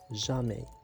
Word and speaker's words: jamais: jamais، يعني هنايا عندهم بجوج على fin اس، لكن لا ننطق الحرف اس. toujours، jamais.